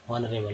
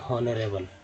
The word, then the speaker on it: honourable: ठीक है, HONOURABLE को क्या पढ़ते हैं, ऑनरेबल, ना कि पढ़ते हैं हॉनरेबल, है ना।